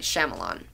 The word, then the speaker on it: Shyamalan: Night Shyamalan. Not because I like Will Smith or Jaden Smith. Am I pronouncing his name wrong?